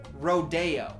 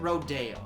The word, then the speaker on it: Rodeo: I told me that the street is actually pronounced rodeo and before you ask no I don't feel stupid the only stupidity I feel is secondhand stupidity from the person who spelled it rodeo and pronounced it rodeo that is embarrassing I hope you're dead the